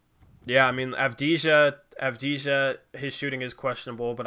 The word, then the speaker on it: Avdija: Avdija. Yeah, see, I thought it might be that. The J is silent.